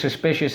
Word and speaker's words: suspicious: full of suspicion okay suss pay shuts there we go suspicious suspicious so let's go sauce P shuts suspicious and we mark this